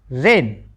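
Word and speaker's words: reign: आर इ आई से बना रे और एन लास्ट में था तो बना उच्चारण रेन।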